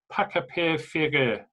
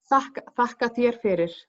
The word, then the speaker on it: Þakka þér fyrir: I think I can try and pronounce it in Icelandic. It's Pakapir Fyrir. Is that right? No. Þakka þér fyrir. Pakapir Fyrir. There you go.